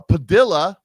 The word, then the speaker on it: Padilla: Her name is Her name is uh not plastic, but it rhymes with um uh Padilla rhymes with Armadilla.